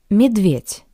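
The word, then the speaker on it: медведь: Midv midv. Similarly to the previous word, the voiced consonant d sounds like the paired voiceless consonant t.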